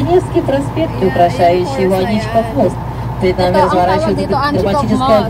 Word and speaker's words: Аничков: полк под руководством инженера-подполковника Аничкова, имел сохраниться за этими местами. Хотя до сих пор точно неизвестно, как правильно произносить его фамилию, современный момент именно Аничков.